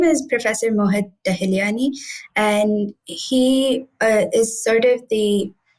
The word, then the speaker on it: Tahiliani: And Kavya, you were working with a professor on campus, Professor Tahiliani. I mangled that. How do I pronounce his name? His name is Professor Mohit Tahiliani, and he is sort of our guide in